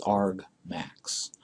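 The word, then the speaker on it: argmax: this is in Ryan this is the word argument and this is the word maximum and the two strung together is is pronounced Arg max and standard mathematical notation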